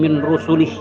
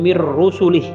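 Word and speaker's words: مِن رُسُلِهِ: la nufarriqu baina ahadim min rusulih. Mir rusulih atau min rusulih ya kan. Kalau saya bacanya secara tajwid la nufarriqu baina ahadim mir rusulih.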